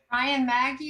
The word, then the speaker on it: Maggi: It was Brian Maggie. I don't know if I'm pronouncing your name right, Brian. Thanks, Terry. It's Brian Maggi.